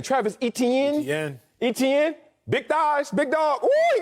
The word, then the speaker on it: Etienne: do you say his name travis etienne yeah etn big thighs big dog he got muscles on